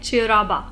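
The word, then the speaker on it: Cheiraoba: यशा एक फेस्टिवल है सेकंड का नाम है चराबा सी एच ई आई आर ए ओ बी ए चराबा इसको जो भी प्रोनाउंस करते होंगे यह जो दोनों फेस्टिवल्स है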